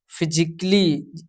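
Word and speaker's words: physically: Rule number 3 कहता है यदि वर्ड के अंत में आइकली आइकली आए तो ए साइलेंट रहता है। जैसे कि यहाँ पे आर्टिस्टिकली जिसमें ए जो है आपका साइलेंट रहेगा। यहाँ पे लॉजिकली यहाँ पे जो है ए जो है साइलेंट रहेगा हमारा। यहाँ पे म्यूजिकली में भी ए आपका साइलेंट रहेगा। फिजिकली इसमें भी आपका जो ए साइलेंट रहेगा फिजिकली में।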